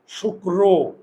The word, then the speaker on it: শুক্র: উচ্চারণ আছে না র এখন আমরা এটাকে উচ্চারণ করি কি শুক্র বার না রবার রো শুক্র না শুক্র রো যদি চোয়াল না খুলে তাহলে অ এর উচ্চারণ হয়ে যায় ও এই ওকারটা নিয়ে আসলাম এই যে শুক্র বোঝা গেল এই যে র আমরা তো উচ্চারণ করি র না র শুক্র তাহলে একটা ও চোয়াল না খুললে ও এর উচ্চারণ আর এই বার আর কোন